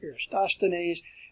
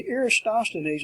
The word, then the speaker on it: Eratosthenes: plane and spherical trigonometry, Eratosthenes, work on your pronunciation, Eratosthenes, who calculated the Earth's circumference.